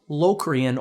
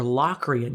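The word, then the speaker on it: Locrian: and then seven diminished is locan or lochan you can pronounce it either way now I can't even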